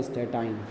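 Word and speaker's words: Astatine: तो इसमें आ गया फ्लोरीन, क्लोरीन, ब्रोमीन, आयोडीन, और At का मतलब स्टेटाइन। फ्लोरीन, क्लोरीन, स्टैटिन भी बोल सकते हैं।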